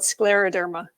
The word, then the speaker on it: scleroderma: do you say that I'm sorry it's called Scleroderma and I nailed it right before we began